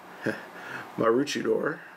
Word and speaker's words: Maroochydore: The closest location I could find was here, point B, which is, I believe is pronounced Maroochydore.